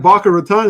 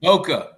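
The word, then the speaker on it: Boca Raton: Is that Baka Raton? Did I pronounce that right? Florida. Bokeh. Bokeh.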